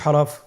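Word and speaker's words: ح: পরবর্তী হরফ আমরা যেটা শিখবো সেটা হল হা। হা এর মধ্যে কোন নুক্তা আমরা দেখতে পাচ্ছি না। হা হরফটি কিভাবে উচ্চারিত হবে? হা হরফটি উচ্চারিত হবে কন্ঠনালীর মধ্যখান হতে।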